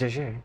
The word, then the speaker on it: Jiuyuan: Oh, it's Jiuyuan. oh, okay. I've pronounced that wrong for so long.